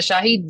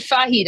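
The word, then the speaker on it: Shahed: The the Shahid the Shahid drones like Yeah. Was I mispronouncing it the whole time? No, you said Fahed.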